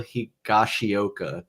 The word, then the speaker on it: Higashioka: Drew Thorpe, Johnny Brito, Randy Vasquez, and Kyle Higashioka. Did I pronounce that right, Ian?